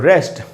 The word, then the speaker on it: wrest: एक और वर्ड है दोस्तों रेस्ट, WREST, रेस्ट, कंट्रोल, छीन लेना, लड़के।